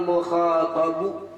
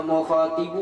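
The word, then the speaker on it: مخاطب: Bi an lam yaral mukhatabu atau mukhatibu boleh. Mukhatabu boleh, mukhatibu juga boleh bacanya.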